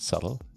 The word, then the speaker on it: subtle: And somebody once wrote there, saying, the fact that he immensely enjoys in life is the fact that the B in the word subtle is silent.